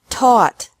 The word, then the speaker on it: taught: sought sought thought teach taught taught think thought thought remember that the g is silent in these verbs verbs with three different